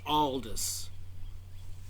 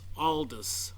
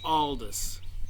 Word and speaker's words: Aldous: And I am reminded that the way you pronounce Huxley's first name is Aldous. Some people say Aldous Huxley. So you don't have to leave a comment down below because I made a speech mistake. It's Aldous, not Audius.